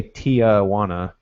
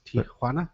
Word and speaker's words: Tijuana: way to pronounce it we always say Tiana and it's Tiana Tiana it's like just there's no there's no it's just TI J you know well but